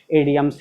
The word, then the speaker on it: idioms: तो उम्मीद है कि ये इडियम एंड फ्रेज, इडियम इसको हम बोल रहे हैं, इसको आइडम्स भी बोला जाता है, लेकिन इसका राइट प्रोनाउंसिएशन आइडम्स नहीं होकर के इडियम्स ही है, इसलिए हम ज़्यादा इसको इडियम्स बोलते हैं, इडियम एंड फ्रेजेस।